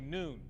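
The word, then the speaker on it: Nguyen: ng u y en many people pronounce it win while some say noon police say this man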